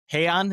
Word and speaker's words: Hei'An: Mastermind behind the band, Han. Am I pronouncing that correctly?